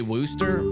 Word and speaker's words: Worcester: You're from the UK and you say Wooster. Well, then that's that's the way to say it.